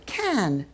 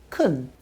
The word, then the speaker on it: can: Let's start with the word can. We both pronounce it in two ways: strongly, can, and weakly, kun.